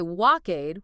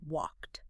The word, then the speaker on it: walked: So, we don't say walkade. We snap it shut with a t. Walked.